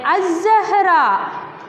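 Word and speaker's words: الزهرة: Then az-zahra. Az-zahra. Lam is silent.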